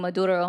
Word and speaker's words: Maduro: Why do you roll your Rs on that?